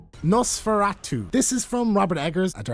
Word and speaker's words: Nosferatu: It's Nosferatu. That's how you actually pronounce it.